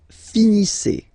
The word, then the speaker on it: finissez: Vous finissez. Vous finissez. Okay, a Z at the end gives you the sound E.